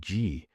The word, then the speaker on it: gi: A picture of a reed, pronounced gi, could also stand for